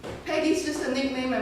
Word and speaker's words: Peggy: off she spoke English the p and the g put together is virtually impossible for cantony speaker to pronounce growing up I was pedy biggy piggy so when the when